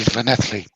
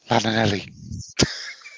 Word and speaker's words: Llanelli: Just like it's Andy Llanelli. Not Lananelli. I'm happy with my pronunciation. If they can't spell it how it sounds, I don't care.